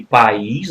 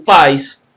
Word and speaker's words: país: É o caso de país, né, que também leva acento, né? Perceba, né, se você não puser acento, você pronuncia o ditongo, paz. Se você puser o acento, aí você tem o hiato, país.